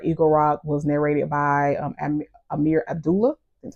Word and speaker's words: Amir Abdullah: And his audiobook for Eagle Rock was narrated by Amir Abdullah. That's how you pronounce it.